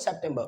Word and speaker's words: September: ठीक है, लास्ट के आर को नहीं पढ़ना है। So what is September? The pronunciation will be what? September.